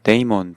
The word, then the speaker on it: daemon: 특히 데몬이란 단어를 씁니다 한국식으로 읽으면 데몬이라고 읽는데음 해외에서는 이제 데이먼 또는 뭐 디먼 이렇게도 발음을 할 수 있는 그런 차이점이 있는 거죠 우리나라에서는 대부분 데몬이라고 합니다